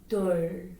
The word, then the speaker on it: 둘: If the L sound Lieul comes the bottom, it makes what? Just like we talk about, you roll up your tongue and touch your top of your mouth.